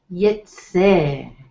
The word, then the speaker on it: VaYeitzeh: So, VaYeitzeh. So you can see the emphasis or the stress will be on the last syllable of the word.